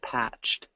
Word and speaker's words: patched: a patched at close patched has a t sound at the end patched patch okay okay patch